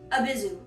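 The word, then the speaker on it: Abyzou: It's like abyssal and a zoo. It's an abyssal zoo. A Bizu.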